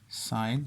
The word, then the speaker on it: sin: लेकिन हम जब इसको आम रूटीन में जब हम इन रेशियोज़ को पढ़ेंगे तो यूँ पढ़ेंगे साइन थीटा, जैसे साइन, सिन लिखा जाएगा लेकिन बोलेंगे साइन ही है, साइन थीटा, कॉस थीटा और टेन थीटा।